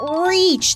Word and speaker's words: reach: Kiki, you mean reach, not rich. Those are 2 different words.